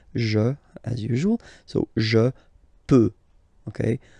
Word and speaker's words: peux: So je peux. Okay, final x not pronounced here. Okay, so you've got the x but you don't pronounce it. So basically you get the sound peut, peut, je peux.